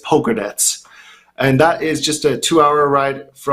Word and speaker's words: Pogradec: I've been to Pogradec, which you would pronounce it probably Pogradic because it's spelled Pogradic, but it's pronounced, and it's actually the actual way to say it is Pogradec, and that is just